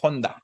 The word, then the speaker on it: Honda: Bueno, ya la marca es Honda, ¿no? Ya con sonido esa H de manera concreta.